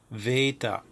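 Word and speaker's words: βήτα: Veta is more of a V sound, as in vet.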